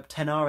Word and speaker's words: XR: people know, they do an XR or a 10R as it's pronounced.